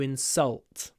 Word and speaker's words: insult: we use the verb the stress is on salt insulted it was an